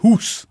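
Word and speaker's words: Gous: की भी बड़ी शानदार अच्छा that how you pronounce it हुस I think so मैं पहले घूस ही कह रहा था but then I heard some commentator से हुस बट व्हाट अ नेम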